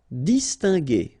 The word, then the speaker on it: distinguer: Distinguer, okay, so it's interesting here because if you see carefully, you've got this G, and after that here, you've got E. So normally, if you would have this G and E together, you would have the sound je, okay? And the technique in French is to put this U between the two to get the sound G.